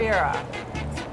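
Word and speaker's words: Gruyère: It's kind of weird name, but Gruyere. something like Guerere?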